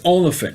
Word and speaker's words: Olyphant: And it's Oliphant, not Elephant. I know I'm pronouncing Elephant, but it's Oliphant.